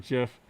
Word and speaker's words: GIF: The creators of the format pronounce the word GIF with a soft G, as in Jim.